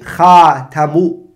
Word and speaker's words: خاتم: The way to pronounce it, or the way to utter it or articulate it, is to say خَاتَمُ. You can say that. Or you can say خَاتِمُ.